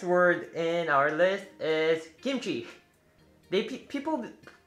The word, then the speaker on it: kimchi: in our list is kimchi they people pronounce it kimchi because it's stars with k but it's more like kimchi which like a g instead of k some people think